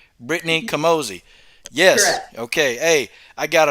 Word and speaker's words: Camozzi: castille for giving me this interview with brittany kamazi thank you and did i pronounce that right because it's a weird one it's kamosi okay i have to say it right i